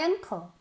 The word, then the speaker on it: uncle: They start my uncle. They start. They start. They start when my uncle starts. Uncle. Ankle, no, ankle es tobillo, cuidado.